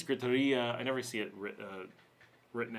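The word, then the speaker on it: gritería: Oh, griteria pronunciation in Spanish. Yes, it's griteria.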